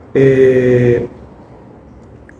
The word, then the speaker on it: Zen: la misma manera, pero en chino se pronuncia Chan y en japonés Zen.